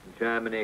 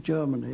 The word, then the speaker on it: Germany: the air he had a way of pronouncing Germany as if the first syllable was chair so he said Germany calling calling Germany calling